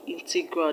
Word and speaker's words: integral: the correct answer is option A integral this is the word that has its stress on the first level now let's answer the